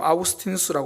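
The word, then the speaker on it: 아우구스티누스: 거죠 제가 요즘 이제 어거스틴 뭐 요즘 아구스티누스 발음을 하던데 그분의 고백록 굉장히 유명하죠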